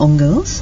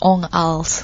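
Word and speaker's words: 옹알스: group from Korea called Ong Girls. I believe you've heard of them? Yeah, actually it's pronounced as Ong Als. Ong Als. Because Ong Als, it's a sound the babies make.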